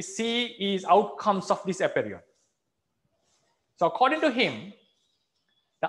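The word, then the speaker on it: apeiron: Maybe I'm not accurate in the pronunciation. This is how it is pronounced. Aperion. Aperion. He suggested that everything, animate or inanimate, everything sprung out, came forth from this nature.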